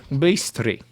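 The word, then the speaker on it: быстро: That last, that I with the Bistro. backwards. Bistro. Very close, Jared. Very good. Oh. It's actually bistri. Bistri. And this means fast.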